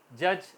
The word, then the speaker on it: judge: जी इन the word, अगर letter D आपका जी से पहले आ जाए तो वर्ड के अंदर नहीं बोला जाता। फॉर एग्जांपल जज, JUDGE, तो डी को हम नहीं बोलेंगे, प्रोनाउंस नहीं करेंगे, जज आएगा।